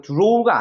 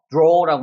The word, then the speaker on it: draw: 이거 draw가 아니에요. draw라고 하는 거예요. draw. 그래서 어가 턱이 조금 더 벌어지면서 어를 잡아 끄는 느낌으로 발음을 해야 되는 거예요. 그래서 어 사운드가 되는 거예요.